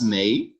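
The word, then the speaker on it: mais: you want to say but that's may may but if you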